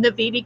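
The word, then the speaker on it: Naviti: That you're pronouncing Navidi correctly. Do you want to know why? It's because I have it spelled Naveetee on my shit.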